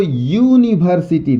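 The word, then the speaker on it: university: यूनिवर्सिटी लिखा है तो यूनिवर्सिटी, ध्यान दीजिएगा, यूनिवर्सिटी, यूनिवर्सिटी, य से इसका उच्चारण हो रहा है, लेकिन लिखे किससे है?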